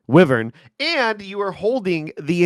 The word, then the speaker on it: Wyvern: How do you pronounce that correctly? It's Wyvern. Wyvern.